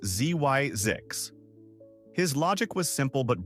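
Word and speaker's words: Zzyzx: So, he concocted the name ZX, pronounced Zyzix.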